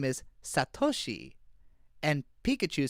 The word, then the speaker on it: Satoshi: Because in Japanese everything is everything is pronounced with emphasis on a specific syllable. So like you would never say satoshi, you say satoshi.